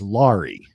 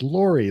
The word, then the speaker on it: Lori: that Phil was saying her name as Lori. Like kind of rhymes with sorry. And so Lori was like, "That's not how you say my name. It's Lori." Like story, you know, and it's your name,